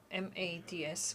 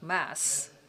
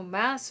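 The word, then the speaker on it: Mads: heard that his name m-a-d-s well D is silent so we should not say mad but Mass so Mass Frederickson executive director of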